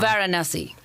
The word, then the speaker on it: Varanasi: And then we are going to the airport, and you have to pronounce this town. Varanasi.